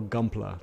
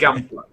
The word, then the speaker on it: Gunpla: in terms of the current situations, and your Gumpler. Did I pronounce that right? That's correct. It's a mixture of Gundam and plastic. That's why Okay. Gunpla.